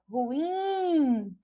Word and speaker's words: ruim: E ruim, ruim não tem acento, mas quando a gente pronuncia, ó, ruim, a gente identifica que a sílaba tônica é a sílaba in, que é a última sílaba e que não recebe acento porque termina em in.